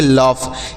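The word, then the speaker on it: laugh: क्या पढ़ेंगे इसे पढ़ेंगे लफ एल ए यू जी एस लफ पढ़ेंगे लफ मतलब क्या होता है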